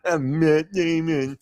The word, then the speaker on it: Matt Damon: Matt Damon. That's the proper pronunciation.